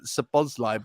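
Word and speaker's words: Szoboszlai: and he went oh it's uh saboz live at The Zed silent I was oh cheers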